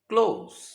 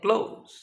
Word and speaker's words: close: When this word functions as verb, pronunciation will be close. এই শব্দটি যখন verb হিসেবে ব্যবহৃত হবে উচ্চারণ হবে close.